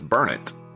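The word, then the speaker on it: Burnet: He did but it's called spelled Bernett and most people would say Bernett but it's Bernett.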